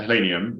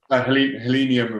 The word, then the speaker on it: Helenium: so this is um a hellenium wall trout wall um which i've known before lots of times my pronunciation was completely wrong trumps if you okay helenium and voltron allen just says it